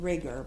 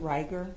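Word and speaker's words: rigor mortis: you started to see I thought you said rigger but isn't it ryer ryer mortis uh there's debate on the pronunciation okay so rigor Morse or rer mortise however you want to pronounce it you took a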